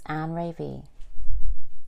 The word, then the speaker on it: Anré'V: How do you pronounce her last name? Is it Anré'V? It's Anré'V.